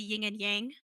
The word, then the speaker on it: yin and yang: It kind of reminds me of like the yin and yang. So like the yin and yang actually is how it's pronounced, but like the yin and yang, you've got a little bit of both in each.